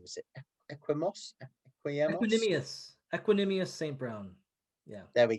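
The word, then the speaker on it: Equanimeous: Brown of USC, and obviously he's got I can never pronounce his brother's name. Is it Equanimous St.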